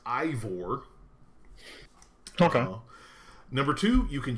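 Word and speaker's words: Eivor: far number one I the character's name is pronounced Ivor okay number two you can choose whether your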